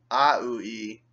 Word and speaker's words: aUI: The language, A, lowercase, UI, uppercase, pronounced AUI, consists of 30 sounds, each a category and a symbol.